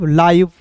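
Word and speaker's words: live: फिर देखिए एल का लॉ आई वी ई, तो इसका उच्चारण आई लाइव, लाइव, लीव नहीं पढ़ेंगे, ठीक है।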